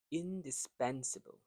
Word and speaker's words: indispensable: Number nine, indispensable. Here the stress word is in the third syllable.